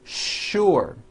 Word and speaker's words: sure: not know is that there are some words in English that are written with the letter s but are pronounced with the sh sound words like sugar and sure and to make things